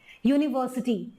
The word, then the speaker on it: university: यूनिवर्सिटी को जब आप पढ़ते हैं तो य का प्रोनाउंसिएशन आ रहा है, Y का प्रोनाउंसिएशन आ